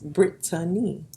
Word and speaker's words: Brittany: I mean, of course they're similar, but there's an A in there and it's not silent. It's Brittany.